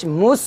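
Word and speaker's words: مُصْ: পেশ মুস হবে না যদি আপনি মুস বলেন তাহলে সিনের মতো উচ্চারণ হবে তো সিনের মতো এখন উচ্চারণ হবে না অর্থাৎ জজমওয়ালা সিনের মতো উচ্চারণ হবে না এখন হবে জজমওয়ালা সোয়াদের মতো উচ্চারণ তো মিম সোয়াদ পেশ মুস মুস এই সোয়াদটা আপনি একটু মোটা করে উচ্চারণ করবেন কলু ইন্নামা নাহনু মুসলি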